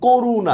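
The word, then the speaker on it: করুণা: বানানে মধ্যন্য থাকলেও উচ্চারণে সেটা কিন্তু দন্তন্য হয়ে যাবে। যেমন দেখেন করুনা।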